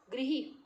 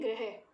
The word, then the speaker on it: गृह: तो री को मात्रा हम ये इस्तेमाल करते हैं, लेकिन इसको प्रोनाउंस कैसे कर देते हैं? ग्रह। तो बेटा ये ग्रह र नहीं होता है, ये री की मात्रा होती है। इसको री प्रोनाउंस करना है। जैसे हम लिखते हैं गृह कार्य, गृही कार्य, जैसे है गृहपति, री है ये। इसको री प्रोनाउंस करना है, इसको र प्रोनाउंस नहीं करना है।